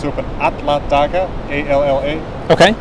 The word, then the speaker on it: Alla daga: We saw like on the sign of the supermarket, it's open Alla daga, A-L-L-A. Okay. Alla daga.